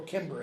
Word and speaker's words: Cimber: They're asking for freedom for Cimber, or Kimber as it's sometimes pronounced.